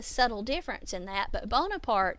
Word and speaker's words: Bonaparte: And I don't know if you can hear the subtle difference in that, but Bonaparte is the French spelling and pronunciation of his name.